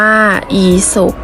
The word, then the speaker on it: อีสป: 1 กัน เลย ค่ะ อีสป อ่าน ว่า อี สบ เคารพ อ่าน ว่า เคารพ